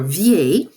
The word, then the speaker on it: vieille: And then finally, we will do the same thing with the word vieux or vieille for old. If I go across this list, they are pronounced vieux, vieille, vieux, vieille, vieille.